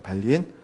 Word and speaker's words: 발린: 발린이라고 읽어요. 발린.